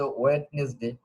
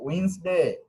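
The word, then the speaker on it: Wednesday: ওকে, আমাদের উচ্চারণগত অনেক প্রবলেম আমি পাবো, যেমন আমরা অনেকে বলে ওয়েডনেসডে, উচ্চারণ সঠিক না, উচ্চারণটা উইন্সডে, কি হবে? উইন্সডে।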